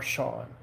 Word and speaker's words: Sean: That's how most SEANs are Sean. I always well, that's a name I always found fascinating. The SEAN pronounced Sean.